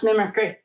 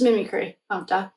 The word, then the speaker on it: mimicry: I can't believe I couldn't pronounce mimickry. I think someone probably in class our friend one of our friends the one friend I talk about we call it shock told it's mimicry.